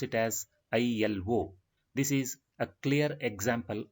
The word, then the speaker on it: ILO: Here, the abbreviated form, we are not pronouncing it as a word ILO, but we pronounce it as ILO.